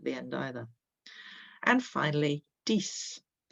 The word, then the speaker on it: dix: And finally, dix rhymes with six.